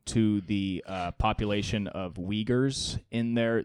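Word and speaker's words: Uyghurs: the uh population of Wagers in there which if you don't know they pronounced wiggers is a sect of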